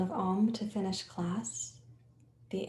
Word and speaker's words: Om: So Om is spelled A-U-M, silence.